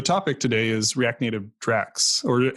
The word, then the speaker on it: Drax: today is react native draxx or how do you say that Drax Drax Drax is correct and that's a dragon